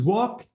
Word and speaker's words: walk: L before the final letter the L is silent it is written but we don't say it okay okay okay so because walk ends with what and